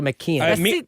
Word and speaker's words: McKeon: Je Je sais pense qu'il faut dire McKean.